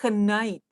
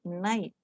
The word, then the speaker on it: night: For example, for English, we no longer pronounce the K in night. We don't say knight, we say night.